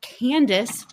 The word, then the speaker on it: Kandise: Candace Barb is perfect.